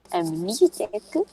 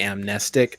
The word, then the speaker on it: amnestic: It should be amnestic. It's adapted from the word amnesia, so I say amnestic instead, but it should technically, from its spelling, be amnestic.